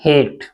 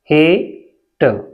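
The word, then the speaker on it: hate: क्या होता है कृपया एच ए टी ई इसे हम पढ़ते हैं हेट हेट देखि ए के बाद एक अक्षर छोड़कर अगर ई आता है चार अक्षर वाले शब्दों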